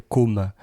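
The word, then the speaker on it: Côme: Qui s'appelle com le lac comme le lac de com en Italie. Et la prononciation pas simple he d'ailleurs entre com et comme hein, si je veux dire comme com c'est un peu c'est pas évident.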